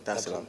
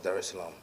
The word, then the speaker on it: Dar es Salaam: of the 7th, to come straight to Tanzania, Dar es Salaam. Did I pronounce that right? Yeah. Dar es Salaam. Okay, cool. Dar es Salaam.